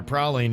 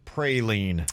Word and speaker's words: praline: Virginia, praline is getting curb stomped. 92% say it's pronounced praline, not praline. Well, those people aren't from New Orleans. I don't know what to tell them. They're wrong.